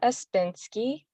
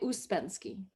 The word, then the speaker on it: Uspenski: name and that's fine it's it's normally usbensky yeah okay so let me try that again today I'm joined by uspinski the founder of the